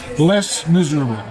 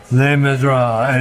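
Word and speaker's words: Les Misérables: Les Miserables. Les Miserables. Is that how you pronounce it?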